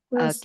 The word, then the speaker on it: first: Bird, first, Okay, yun first, not first. First. So don't forget the S sound.